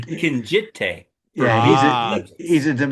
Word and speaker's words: Kinjite: He was a bad guy Duke in Kinshite. We had or Kinjite or however the hell it's pronounced. He corrected my. He kept He's saying Kinjite for yeah, Ah, he's intelligence.